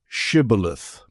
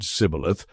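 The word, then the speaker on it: shibboleth: They said, "All right, say shibilith." If he said cibilith because he could not pronounce the word correctly, they seized him and killed him at the fords of the Jordan.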